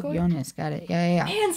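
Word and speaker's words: Joonas: draft how do you say his first name jonas got it yeah yeah and so many of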